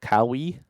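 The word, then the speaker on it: kawaii: design fun little stickers I think it's called kawi spelled like Hawaii but instead of a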